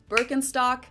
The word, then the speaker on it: Birkenstock: their native accent so English speakers usually say burken in German we say bstock Birkenstock BTO iates to and that's so